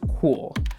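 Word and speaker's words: Cuil: deserve it okay okay let's move on to cool I had to Google how to pronounce this which is perfectly ironic cool is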